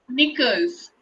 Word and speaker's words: knickers: Yes, so let's read out these words with silent K letters. Okay? Yes, ma'am. Knee, Ni. new, New. knickers, Knickers.